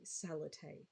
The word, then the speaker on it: Salathe: I just said my name strangely. Salathe is how you say it.